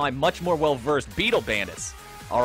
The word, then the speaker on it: Beetle Bandits: now reading the chat I'm so sorry my friend for mispronouncing that it's actually in our chart as battle Bandits I would I forgive I hope you forgive me for that because it was actually spelled with two T's I'm going to correct